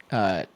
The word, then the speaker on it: Shough: Was it Shao? Ooh. SH. What? How do you say his Is it- last name? Oh, Kirky. How do you say that guy's last name? Shough.